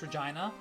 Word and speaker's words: Regina: Victoria is the capital why would you pronounce Regina like that because that's the proper way of saying it yeah freakin yeah